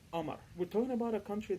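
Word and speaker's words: قمر: We do not pronounce the letters th, the, and qa. For example, the word qamar means moon. We pronounce it as Amar.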